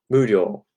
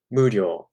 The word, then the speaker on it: 無料: An optional way to pronounce it pitch-wise would be 無料. 無料. So instead of 無料 going up, you could start it high. 無料. All right. There's either way is fine with this word.